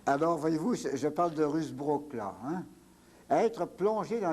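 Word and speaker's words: Ruusbroec: Ça s'écrit drôlement, ça se prononce Rusbrook.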